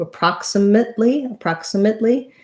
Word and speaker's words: approximately: This letter A is either going to be an sound or a schwa sound. So approximate or approximate. I think I usually use more of an vowel here. Approximate. Because I'm going right to the L from my T, approximately, I'm not going to release that T. It's going to be a stopped T, and I'm going to